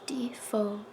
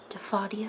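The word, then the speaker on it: Diffindo: And it is pronounced Diphodio. Some people like to say Diphodia, and that's wrong.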